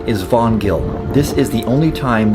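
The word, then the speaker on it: Hvanngil: The correct pronunciation is vongill.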